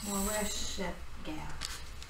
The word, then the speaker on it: Moresheth Gath: I said Moresheth Gath. Moresheth Gath. Yeah. Moresheth Gath. That's phonetically. Right.